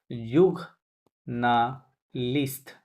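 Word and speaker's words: journaliste: ওকে, আচ্ছা, যে উচ্চারণটা, জার্নালিস্ট ইংরেজিতে যেভাবে লাগে সেম স্পেলিং, বাট উচ্চারণটা ফরাসি স্টাইলে করবেন। যুগ না লিস্ট, হ্যাঁ, যুগ না লিস্ট।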